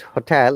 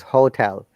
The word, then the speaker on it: hotel: hotel yes hotel okay it is not hotel it is hotel what is the impact